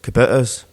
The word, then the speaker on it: Kubota: I would, yeah, but they had depends what way you pronounce it. Kubotas, right? I think they pronounce it Kubota, right?